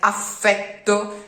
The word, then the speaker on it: affetto: Those are doubled, are to be pronounced double at all times, even if a word like affetto has a couple of double consonants, you have to pronounce all of them.